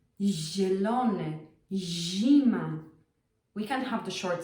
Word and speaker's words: zima: ż zielony zima We can't have the short sound. It just doesn't work. It's really hard to pronounce. zima zima No, it's zima zielony It's not zielony.